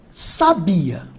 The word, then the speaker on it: sabia: análise aqui ó ó eu tenho aqui sabia beleza a tônica tá aqui ó essa aqui é a minha sílaba tónica sabia agora se eu trocar a minha sílaba tônica de lugar e botar o acento eu voltei aqui ó um sabiá então eu tinha aqui ó